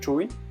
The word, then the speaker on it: chuối: La banane et l'ananas sont très tabous dans le sud, parce que la banane se prononce chuy, ce qui signifie tête